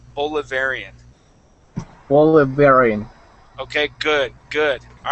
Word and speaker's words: Bolivarian: supported supported okay good now if we were toh pronounce this word in uh in English we would say bolivarian okay so that a here would be more of an a long a sound bolivarian bolivarian okay good